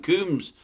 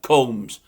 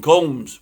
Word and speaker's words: Combs: Sean, I keep calling him Coombs. Am I supposed to pronounce it Combs? I think I am. There's no double O, is there? Sean Combs.